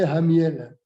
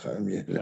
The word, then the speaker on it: Khamiel: Il le prononce comme un et. J'ai vu ce matin un docteur, et il m'a dit, vous connaissez Hamiel. Ah ouais, Khamiel.